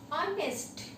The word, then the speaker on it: honest: Here in this word h is silent, okay. That's why we say honest, okay.